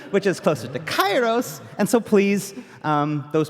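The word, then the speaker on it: Kairos: today and this new battle content is called kyo's gate so I'd like to step in just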